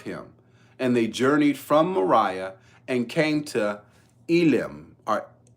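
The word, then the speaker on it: Marah: journey and encamped in Mariah I'm saying Mariah it's spelled m a r ah and Yahweh gave to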